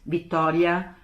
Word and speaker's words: Vittoria: So if Italian is Vittoria, and the Germans say Victoria, and the British say Victoria, so they can pronounce it, and still it is her name.